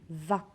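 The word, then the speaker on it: vingt: Ici, dans le mot va, je ne prononce pas la lettre G. Je dis va.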